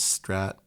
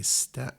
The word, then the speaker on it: Strat: So the contribution margin, the highest one is Strat. And then, they say Stat. They mispronounce.